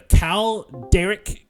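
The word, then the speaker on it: Kaldaerik: K A L D A E R I K. The A is silent. So Derek uh Derek. Cal Derek.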